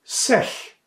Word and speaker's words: sech: Bei sech steht das G nicht zwischen zwei Vokalen und wird daher als Ch weich ausgesprochen.